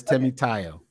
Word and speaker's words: Timoteo: Is it Timoteo? It's just. Just call me. Just go with. That's why I go with. But it's Timoteo.